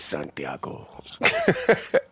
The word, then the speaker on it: Santiago: oh I'm sorry Santiago no you got to say it like this Santiago okay man how you